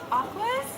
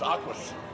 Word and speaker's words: Aqus: I always call it Aqua, but it's Aquas.